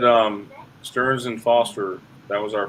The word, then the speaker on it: Stearns: what what Sandy the name of this it's pronounced Stearns and Foster you're spelling Sterns in the chat